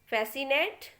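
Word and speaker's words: fascinate: तो देखिए एग्जाम्पल, पहला लिखा है सीजर्स, इसमें सी को नहीं बोलेंगे, हम एस को ही प्रोनाउंस कर रहे हैं। एसेंट, फैसिनेट और मसल, इस तरीके से हमने केवल एस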